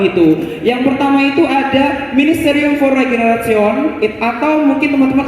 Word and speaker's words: Ministerium: Dibacanya ministerium ya, atau teman-teman mungkin akrab disapanya divisi atau departemen seperti itu.